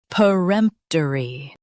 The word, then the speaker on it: peremptory: Peremptory. Stress rempt and keep p soft.